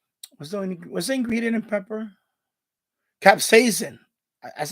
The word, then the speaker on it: capsaicin: Capsaicin. That's how you pronounce it. Capsaicin.